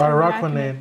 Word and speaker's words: Araquanid: How do you pronounce it? I thought it's Araquanid. Yeah, you're right.